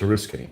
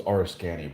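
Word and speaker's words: Oriskany: I said it correct so it's a risky okay I always thought it was rskany but I don't know you know if you've never heard something pronounced they've been named an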